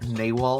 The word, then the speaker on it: Nawal: Nawal, I think, is that how you say it? Yep. Because I know it's that not was Narwhal. how we were told to say it. Nawal.